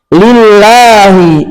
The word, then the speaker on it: لله: Lillahi lillahi dibaca dengan ringan. dibuka mulut.